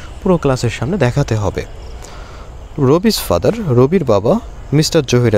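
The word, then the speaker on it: Rabi: Is mister Zahir Ali রাবিস father. এখানে রবির বাবা। তো আমরা এখানে রবিও বলতে পারি কিংবা রাবিও বলতে পারি। রবি ইজ দ্য অ্যাকুরেট প্রোনাউন্সিয়েশন।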